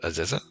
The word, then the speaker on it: Aziza: All right, so now with, I pronounce it Aziza.